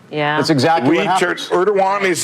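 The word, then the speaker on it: Erdoğan: Erdogan is how you pronounce the president there.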